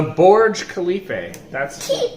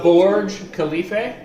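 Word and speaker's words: Burj Khalifa: what is the tallest building in Dubai the Borge Khalifa did you hear that did you hear that how you pronounce it the Borge Khalifa yes can you say it yeah not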